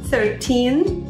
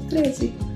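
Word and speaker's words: thirteen: Por causa do teen, a diferença da pronúncia do teen, da sílaba tônica, olha só, 13, 13, 30.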